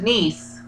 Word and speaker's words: Nice: this French resort city is pronounced like your brother's daughter what is nice you look alike to